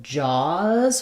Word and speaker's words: jaws: The main difference here is just the vowel. So for jaws, we have vowel ah. And for jazz, we have vowel ah, like in cat.